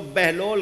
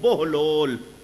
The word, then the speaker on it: بہلول: تھی، حضرت بہلول دانا، کچھ لوگ بہلول کہتے ہیں، صحیح تلفظ بہلول، مجذوب تھے۔ مجذوب کا